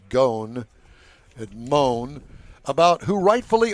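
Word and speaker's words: Ghosn: with former chairman Carlos I call him Goen I think it's pronounced gone and moan about who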